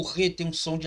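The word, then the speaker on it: ח: O RET tem um som de H fortemente aspirado, semelhante à pronúncia do J em espanhol, hijo, tá bom? Hijo, filho, tá bom? Como no substantivo próprio Júlio, né? Julio. É transliterado por um H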